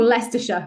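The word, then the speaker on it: Leicester: England in um in a place called leerer which is just the worst word to spell ever it's just yeah no one could ever ever ever say it properly which is cool but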